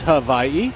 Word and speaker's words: Hawaii: Just want to say aloha to everyone, and I think Audra mentioned the right way to say Hawaii is Hawaii.